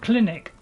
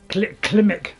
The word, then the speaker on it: Klimmek: Also, a limp clinic. Did I say a limp Klimmek? Klimmek, not clinic.